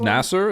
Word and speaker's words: Nasser: job as a software it's Nasser is how you say his name we're going back to